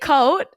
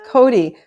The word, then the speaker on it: Cote: Is it Coat? No, it's Cody.